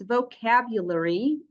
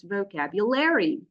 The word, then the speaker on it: vocabulary: example you know that this word has two variants of pronunciation according to the accent so in a British English in British English it's vocabulary while in American English it's vocabulary so this does not by